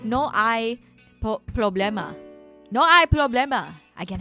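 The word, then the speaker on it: no hay problema: No, cuz you don't pronounce the H. It's no I problemma.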